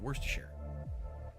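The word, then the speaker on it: Worcestershire: you spell it but that's how you pronounce it worse to sure are you sure about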